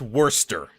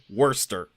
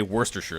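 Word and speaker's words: Worcestershire: Good luck figuring out how to pronounce that because it's worester. You You don't pronounce the the shire. You don't pronounce the cest in the middle. It's just worester.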